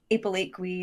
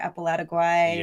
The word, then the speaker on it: Apalategui: But it's been, it's usually like Apalategui or Apalategui or just, Apala, help me, please. It is one of those that once you hear it pronounced, they're like, oh, yeah, of course. It's actually fairly phonetic, yeah.